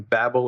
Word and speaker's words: Babel: get the pronunciation wrong babble or babble however you want I've heard it both ways I've met two of the maintainer since Babel okay so babble that's I've been saying it right I've had people